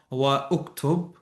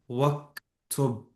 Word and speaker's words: واكتب: You don't say iqra wa uktub. You don't pronounce the alif. You write it, but you don't pronounce it. So you say iqra waktub.